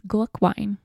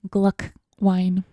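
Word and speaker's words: Glühwein: to what is your holiday go to it's Glocke wine excuse me Gluck wine how do you spell that um it's Glu CHW ein so it's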